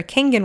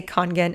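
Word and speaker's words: Kangen: Now, if you had some congen water or kangan water, I don't know how you pronounce it. I say congen.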